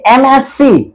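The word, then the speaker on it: MSc: ये एमएससी एम एस सी यानी इसका उच्चारण करेंगे तो एम एस सी एमएससी तो देखिए इसका भी जो प्रथम ध्वनि का जो उच्चारण है या प्रथम ध्वनि जो है वो क्या है हिंदी वर्णमाला का स्वर है ए है इसलिए यहां पे क्या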